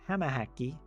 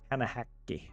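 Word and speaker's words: hämähäkki: Hamahäkki with 2 Ks. Sometimes I think I pronounce it with 1 K.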